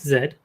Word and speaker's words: Z: characters from dragon ball z i think you'll find it's pronounced zed yes you're right uh well normally i'd agree with you but the show specifically titles it pronounces it z instead of zed so i'm going to